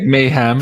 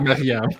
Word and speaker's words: Maryam: But yeah, she sounds like mayhem. Yeah, sometimes she's mayhem, but it's more like Maryam.